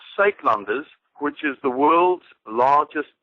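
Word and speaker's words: Suidlanders: The UI, it's S-U-I-D to make up the word Suid, or the first part of the word Uitlanders, and it's a sound that doesn't occur in English, so it's difficult to mimic it, and it's okay if people don't get it right, but Uitlanders is the precise pronunciation.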